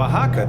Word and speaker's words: Oaxaca: okay but not in oaxaca you know oaxaca the x is like an h in english right man-made sandbar is